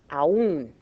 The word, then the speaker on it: aún: Accent on a weak, an I or U breaks the diphthong and gives you two separate syllables there. Okay, and aún.